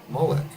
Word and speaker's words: Molech: It's just the regular word Molech. It's just Melech, but modern Hebrew uses different vowels to try to pronounce it differently to try to make a distinction between the two, but it's the same word.